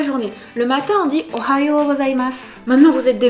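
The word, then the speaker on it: おはよう: Ne dites pas Ohayo gozaimasu, oha avec un he. Ohayo. Le o est allongé.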